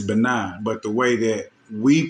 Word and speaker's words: Benin: what I'm saying and the way that they pronounce it in West Africa is benign but the way that